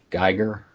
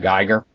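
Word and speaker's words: Giger: Geiger. Did I say it right? Geiger? I think it's Geiger, yeah.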